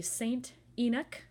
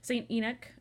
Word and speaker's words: St. Enoch: And these photos on this side are from the St. Enoch, I think that's how you say it, E-N-O-C-H, St. Enoch Shopping Center in Glasgow.